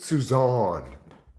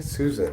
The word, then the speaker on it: Susan: Okay, I know it looks like my name is Susan, but I pronounce it Suzan. So, please don't call me Susan again.